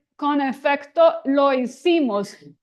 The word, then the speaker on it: hicimos: And then it says con efecto lo hicimos. And then the H is not pronounced. Probably, I know some of you have studied Spanish and others may not. The H is not sounding, so let's do it.